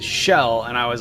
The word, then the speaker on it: Chell: Yeah, okay, so it's Shell if it's short for Michelle, but I believe it's actually short for Marcella.